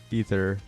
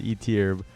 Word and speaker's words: Ether: I've ever seen and everyone in the community says eer or AER but they're wrong and it's ether or is it ether